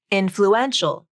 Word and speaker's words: influential: add the ial ending the primary stress shifts to the third syllable influence influential the other group of